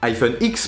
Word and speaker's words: iPhone X: Alors s'appellera-t-il iPhone 8, iPhone 8 Pro, iPhone Pro, iPhone tout court, iPhone Edition, iPhone 8 Edition, iPhone X prononcé 10 pour 10 ans?